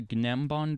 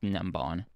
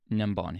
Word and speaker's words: Gnembon: It appears to be the Gnembon design, or actually, it is actually pronounced Nembon by Nembon himself.